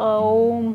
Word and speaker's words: ओम: बोलते हैं बट इसको सही तरीके से जब उच्चारण किया जाता है तो यह ओम होता है ठीक है तो अब हम तीनों